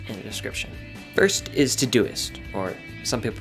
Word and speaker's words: Todoist: check the links in the description first is to duyst or some people pronounce it to dos but that just sounds wrong I absolutely love